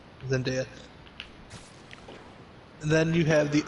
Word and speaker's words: Zendaya: Zendaya. Zendaya.